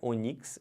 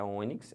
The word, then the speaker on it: ônix: Não é onix, é ônix.